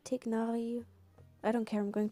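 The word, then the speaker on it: Tighnari: Now we have Tainari, Tignari. I don't care, I'm going to call it Tainari, even though it's wrong pronounced.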